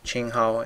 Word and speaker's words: 青蒿: Sweet annie is pronounced qinghao in Chinese.